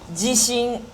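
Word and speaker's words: 地震: Jishin.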